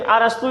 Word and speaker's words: अरस्तु: of biology कौन है arrest arrest इसको बोलते हैं लेकिन अरस्तु इसका हिंदी में उच्चारण होता है अब देखिए जीव